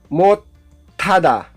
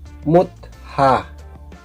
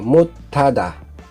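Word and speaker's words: 못하다: Ang pagbasa diyan ay hindi mutha magiging ah mutada.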